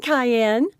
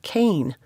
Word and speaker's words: Kane: a baby carrier morning cayenne she said to kane a twinkle in her eye cass he barely blinked and didn't tell her to pronounce it like cain another indication that something